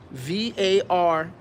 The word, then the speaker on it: Varnai: Spell it for me. It's Varnai Shore.